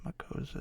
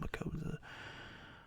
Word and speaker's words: Makossa: Makosa is spelled Makossa. Hazel Makosa.